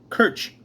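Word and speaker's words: Kirche: comes from an old english and german word pronounced kirch k-i-r-c-h-e in scotland it was cook k-i-r-k the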